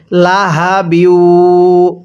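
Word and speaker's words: لَهَبٍ: অনেকে আমরা এখানে লাহাবিউ এই গোল হাটি উচ্চারণ করার সময় মুখ দিয়ে হালকা বাতাস বের করি। এরকমভাবে পড়লে পড়াটা সহি শুদ্ধ হবে না। উচ্চারণের সময় একটু আওয়াজ করতে হবে। লাহাবিউ, পড়ুন আমার সাথে।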